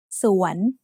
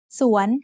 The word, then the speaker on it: สวน: สอเสือ สระอัว using วอแหวน นอหนู สวน สวน has a rising tone because it has a high-class initial consonant combined with a live syllable ending.